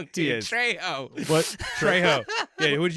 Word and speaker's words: Trejo: So I got a pitch I got to do after this, the Danny Trio. Dude, Machete versus Machetes. Pennywise. That's I a think movie. He's saying his name wrong He too. is. Trejo.